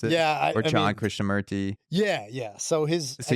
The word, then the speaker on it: Jiddu Krishnamurti: I wanted to go back to jeu it's jidu chrisha merty that's how you pronounce it or John Christa merty yeah yeah so his so you texted me